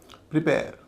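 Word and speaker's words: prepare: Reveal प्रिपेयर इसमें पहला silver हल्का है। बाद का भारी है क्योंकि ये क्रिया है।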